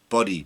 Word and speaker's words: Budde: Marian buddy Bo booty Buddy b u d d e how you that bud just along the D and the E is silent uh buddy we'll call